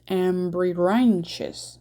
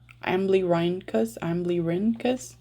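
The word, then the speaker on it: Amblyrhynchus: is suggestive of a lacerda or, oh God, Ambrirhynchus. No, I think it's cus, right? Okay. 1 second. Ambrirhynchus. Cristatus. No, Ambrirhynchus. How do you pronounce that? Oh, it's an iguana. It's a marine iguana. So it's Amblyrinchus.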